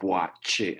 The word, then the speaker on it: Boakye: of my last name, the KY phonetically is actually CH. So you go Boakye, as in, like, say, Chicago, for instance. Okay. In Chicago, yeah. So I know it's kind of how it's spelled is not how it's pronounced.